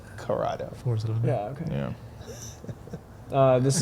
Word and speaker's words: Corrado: It's not a Colorado. It's a Corrado.